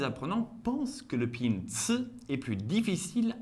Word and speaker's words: ci: Le ci est aspiré, contient davantage de friction et plus long.